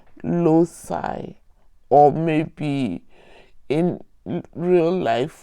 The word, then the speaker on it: loci: Okay, plural is loci. Okay, that is how I was taught to say the pronunciation.